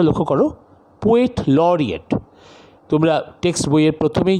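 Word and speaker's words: Poet Laureate: অর্থাৎ ইংল্যান্ডে, উচ্চারণটা লক্ষ্য করো, পোয়েট লরিয়েট।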